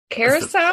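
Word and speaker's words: Curaçao: I always pronounced it Caraco, but is that not how you pronounce it? The Curacao? Curacao? That's the fancy pronunciation.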